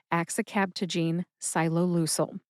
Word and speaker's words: axicabtagene ciloleucel: Let's move on to the generic name, which is AX-i-KAB-ta-jeen SYE-loe-LOO-sel.